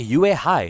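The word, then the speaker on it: Yuehai: So that's how you pronounce that. I always assume that it's like one syllable, like you high or something. Well, it is still one syllable because you don't really cut that off.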